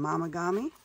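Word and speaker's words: Momigami: I've got some Mamagami. Mamagami, you say? What is that? Well, you can look it up. It's spelled like Mom. Mom. M-O-M. Yep, that's how it's spelled.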